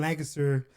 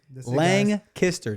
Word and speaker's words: Lancaster: first of all, you say Lancaster, which is not the correct way to say it. Lancaster. Lancaster. Think about a guy named Lang and he kissed her.